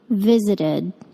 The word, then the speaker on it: visited: that ed ending visited the ed verb ending sounds like id visited this lesson teaches you